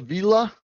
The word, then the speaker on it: Villa: Actually, it's a villa. Villa. That's the pronunciation. It sounds Spanish, but it's actually Italian.